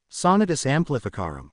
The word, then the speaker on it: Sonatus Amplificarum: Repeat after me, Sonatus Amplificarum, Snape enunciated clearly. Harry repeated the incantation. Again, Potter, accent the fourth syllable this time.